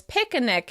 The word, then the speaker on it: picnic: Some people pronounce picnic as "picanic" instead.